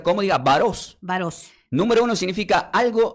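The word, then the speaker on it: βάρος: La primera palabra que es carga se pronuncia como diga varos.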